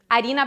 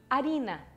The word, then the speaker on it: harina: Olha onde é que está a sílaba tônica. Avenida e harina. São paroxítonas.